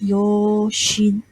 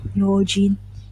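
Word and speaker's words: 用心: look at uh okay this is pronounced as yo shin yo jin sorry yo jin okay yoji okay so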